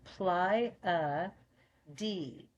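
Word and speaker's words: Pleiades: straight to the I ply a d so then the last e is heard and it's long so forget the first e and emphasis on the last e ply a pades so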